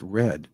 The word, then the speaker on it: read: The word read can also be pronounced red in past tense.